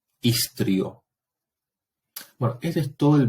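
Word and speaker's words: histrio: Y por otra parte, hay que recordar que la H en latín es muda, ¿sí? Entonces leo ic, istrio.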